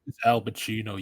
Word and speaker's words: Al Pacino: Yeah, I also have no Pachinko. It's Al Pacino, yo. It rhymes with Dunkachino.